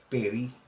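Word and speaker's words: פְּרִי: doon sa genesis chapter 4 verse 3 is pronounced as Perry Okay p e r i okay which is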